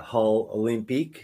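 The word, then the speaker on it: Hull Olympiques: quick your your Junior career plan for the hull olympique is that how you say it that is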